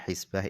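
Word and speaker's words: حسبة: pahala kepada Allah nah cara bacanya hisbah ini adalah bikasril ha yaitu dengan dibaca kasrah huruf hannya maksudnya adalah la marjuah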